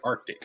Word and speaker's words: Arctic: reason high frequency uh Artic cute auroral research program I'm sorry Arctic I pronounced that wrong Arctic auroral research program okay